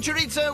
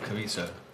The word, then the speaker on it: chorizo: I would always say chorizo. Or some people say Chorizo. Chorizo. Chorizo. I pronounce it chorizo. They were pronouncing the Z, which you don't do in Spanish. Silent.